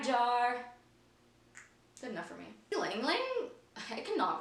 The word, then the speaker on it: Ylang Ylang: Lang Lang? I cannot pronounce that. I need to look up how to pronounce that. It's spelled Y-L-A-N-G, Y-L-A-N-G.